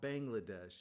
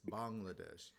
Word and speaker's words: Bangladesh: that correctly Sak it's it's not Bangladesh it's Bangladesh and I've been trying